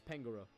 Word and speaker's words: Pangoro: was the evolution name is it pangaroo Pangoro everyone however you want to pronounce it I think it's Pangoro X and Y I do know that so it is from gen 6. yeah it's Pangoro Pangoro how are we